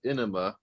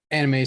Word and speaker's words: anime: are talking about anime anime that's right anime so not to be confused with inema which is how my art teacher in college in animation College pronounced it this this town needs